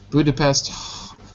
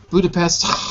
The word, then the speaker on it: Budapest: Budapest. Budapest.